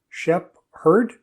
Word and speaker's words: shepherd: If we take the word shepherd and we kind of pull it apart, shep-herd, if we pull those words apart a little bit more, we have sheep herder.